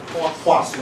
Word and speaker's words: Poisson: Poisson. Okay. You have to say it like that.